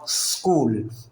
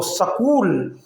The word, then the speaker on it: اسکول: ہم نے کہا اسکول، اس کو سکول نہیں بولیں گے۔ سکول اگر ہم کہیں گے تو یہ غلط تلفظ ہے۔ سیٹی کی سی آواز تھوڑی دیر منہ میں رہے گی اور اس کے بعد ہم کول بولیں گے۔ پھر سن لیں آپ،